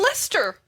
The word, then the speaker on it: Leicester: of my favorite chatters leicester one of the favorite chases yeah like until we arrived in london and they kept saying lester yeah what is the